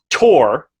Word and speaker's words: Thor: No, but with Julie Sigtuna, which is her name, and Tor, which is kind of, I guess, a Japanese pronunciation of Thor, which is because they can't do the TH sound, and that's why she likes it so much.